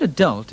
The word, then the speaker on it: adult: according to every dictionary the word adult is pronounced with the accent on the second syllable and conversely that controversy